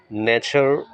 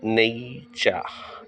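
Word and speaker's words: nature: according two Cambridge advance লার্নারস dictionary the word ন্যাচার উচ্চারণটা হবে নেই চা এন এই টি ইউ আর ই নেইচা আমার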